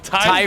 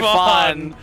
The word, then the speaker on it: Typhon: Tyon Typhon.